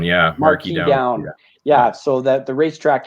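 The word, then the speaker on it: Marquis Downs: uh correct me if i'm wrong trying to pronounce is it marquise down marquee down yeah marquis down yeah so that the racetrack here in saskatoon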